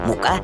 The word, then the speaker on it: мука: Вот два слова, они пишутся одинаково, а произносятся по-разному. Мука и мука.